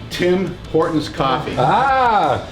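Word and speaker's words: Tim Hortons: so you how do you pronounce that we pronounce it tim horton's there you go tim horn's coffee the ultimate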